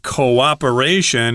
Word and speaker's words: cooperation: I've heard a lot of my students say cooperation. They kind of have one syllable there at the beginning. It's co-operation. Cooperation or coordinate. That's also similar in pronunciation. Make two syllables there.